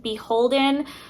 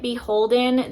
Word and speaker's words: BHLDN: by the brand BHLDN, which I think is actually pronounced Beholden. I think that's the proper way to say the brand.